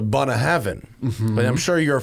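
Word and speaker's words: Bunnahabhain: And it was the real way to pronounce it was the Bunahavan.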